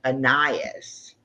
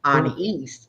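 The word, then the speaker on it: Anaïs: And we were thinking it was Annias. Okay. And it was an east because it's French.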